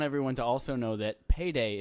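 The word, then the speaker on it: peidei: I just want everyone to also know that payday is Portuguese for I farted. Oh. Just a little fun fact there. P-E-I-D-E-I, so it's spelled differently.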